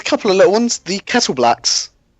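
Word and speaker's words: Kettleblack: I always read it as Kettleback. It is Kettle Black. It is. Yeah, I've always read it as Kettleback until I looked it up and saw, wait, there's an L in there?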